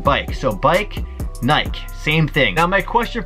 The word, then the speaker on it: Nike: says and I ke is pronounced Naik and not Nike my life is a